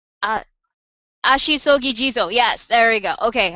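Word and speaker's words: Ashisogi Jizō: Uh, Ashisogi Jizo.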